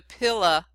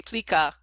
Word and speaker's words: plica: You also have, in this one, you have your first picture of the pila, the plica, yeah, the P-I-L-C-A, plica. I guess that's how we're going to pronounce it.